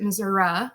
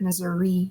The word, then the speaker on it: Missouri: it's actually correct so the native Americans pronounced it Missoura and the French settlers pronounced it Missouri either way is okay